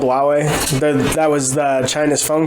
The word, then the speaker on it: Huawei: phones come here yeah it's spelled with an h but it's called huawei that was the china's